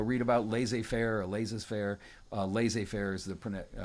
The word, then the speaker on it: laissez-faire: Laissez-faire is the correct pronunciation.